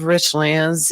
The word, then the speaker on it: Richlands: It ain't Richland's.